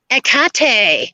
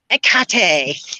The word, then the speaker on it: Hecate: yes we're going to talk about akate um which is the way um my friend Catherine sorelos uh yes I'm a name dropper said uh that you should pronounce it and she's from Greece so I'm gonna go with akate it sounds kind of